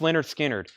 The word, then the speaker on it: Lynyrd Skynyrd: 35 dollars and so I can put up pronounced Leonard Skynyrd another black MCA rainbow label very nice has